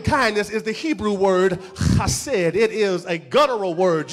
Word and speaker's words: chesed: It is a guttural, which means it has to come from on the inside.